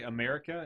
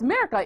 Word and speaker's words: Mirka: Is her name really America and she just can't pronounce her? No, it's Mirka. It is Myrka.